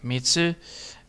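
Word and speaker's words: みっつ: Yeah, Mitsu. And then the T is silent.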